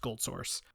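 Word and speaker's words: GoldSrc: engine that they called gold Source um spelled g o l d Sr C but pronounced gold Source this engine would then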